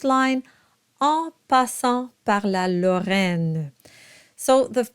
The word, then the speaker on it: Lorraine: line of the song, and it's unstressed at the very end. So you'll have Lorraine. So you voice it, but very lightly.